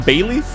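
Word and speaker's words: Bayleef: You mean like the Pokemon Bayleaf? Like the Pokemon. But don't stare at me, you know what I'm talking about. Not like the leaf. No, but it's pronounced the same way.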